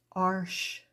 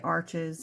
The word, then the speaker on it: Arches: are fabriano and I'll say it properly Arch but most people say arches and I'm not the pronunciation police so I'm going to say arches I don't even have